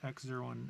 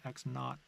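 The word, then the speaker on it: x₀: is one number but that's technically not pronounced X zero and V zero and they're actually X naught and Z and V naught so this is the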